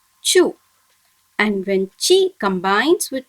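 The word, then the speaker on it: ちゅ: When chi combines with small u, it should be pronounced as chu.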